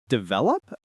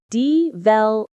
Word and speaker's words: develop: Develop. How do people say it wrong? Many learners say develop. But we say develop. Develop with the stress on. Yes. Develop, not develop.